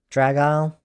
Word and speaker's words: Dragile: The isle is pronounced like the end of crocodile. Dragile.